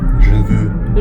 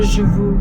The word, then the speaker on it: Je veux: How do you pronounce this title? Je veux. Je veux.